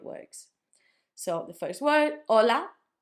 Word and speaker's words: hola: You don't say ha, do you? You know, everyone knows this word. Everyone knows how to say hola. We say hola. We don't say ha. This makes it hard for you to spell stuff correctly because you don't it doesn't have a sound.